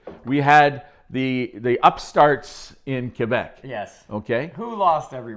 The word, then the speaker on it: Quebec: It's pronounced Quebec. Quebec, right? Quebec. Yeah. Yeah. Not Quebec. Quebec. Yeah. Quebec. Yeah, Quebec. But if you're Francophone, you say Quebec.